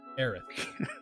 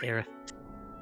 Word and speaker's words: Aerith: Aerith. You know, I still can't get over that. I prefer Eris. Yeah, I do too. Because it sounds like there's a lisp. It does. Aerith.